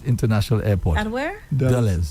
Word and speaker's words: Dulles: I'm pronouncing it correctly. Really? White. White. Oh my word. Yeah. They arrived at Dulles International Airport. At where? Dulles. Dulles.